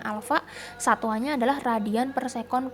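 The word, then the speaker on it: α: Kayak Hai Alfa ya cara bacanya Alfa satuannya adalah Radian per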